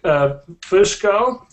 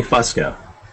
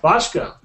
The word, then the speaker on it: Fusco: And then Jack Fusco. Am I pronouncing that right, Jack? It's actually Fusco. Fusco.